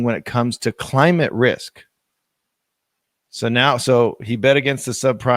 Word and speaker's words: RISQ: Now he's using data from Boston-based Risk, which is spelled RISQ, and they are a data analytics firm specializing in climate risk.